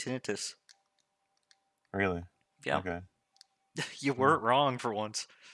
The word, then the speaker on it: tinnitus: That's how it's actually pronounced, tinnitus.